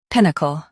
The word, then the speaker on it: pinnacle: Pinnacle. Stress pin. Keep soft.